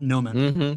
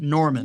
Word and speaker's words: Norman: He's Mark Norman, not Noman. Norman.